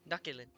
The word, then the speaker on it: Nucculent: Nucculent. Nakilin? Still, Succulent. Succulent. Okay, now we'll know how to pronounce it. It's like succulent.